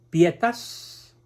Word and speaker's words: pietas: El término latino pietas, así se pronuncia en latín, es muy rico en contenidos.